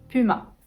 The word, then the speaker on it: Puma: la nouvelle série netflix netflix netflix en 15 puma puma c'est bien vous travaillez le us si vous n'arrivez pas à prononcer le une partie du iiie très étirées